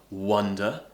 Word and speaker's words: wonder: a small walk okay and then we have these two different vowel sounds which make the difference between the two words wonder uh wander or now the second